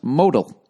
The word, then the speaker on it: modal: It's pronounced modal.